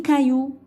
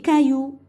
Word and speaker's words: cailloux: X à la fin, mais on ne prononce pas. Il est muet. Par exemple aussi, مثلا 10 cailloux. 10 cailloux. Vous avez vu? X, mais on n'entend pas.